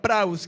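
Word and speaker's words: praus: secundaria de esa palabra prous que es manso es la palabra para ellos con tilde en la a para ellos el acento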